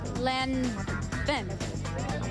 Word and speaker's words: Lanvin: I wish I could pronounce it right. L-A-V-I-N. Oh, L-A-N-V-I-N. I think it's Lanvin.